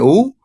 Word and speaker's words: aux: Y como es plural, pues utilizamos AUX que se pronuncia O. Y como aquí no hay ninguna palabra que empiece con vocal, pues no se hace liaison y suena nada más O.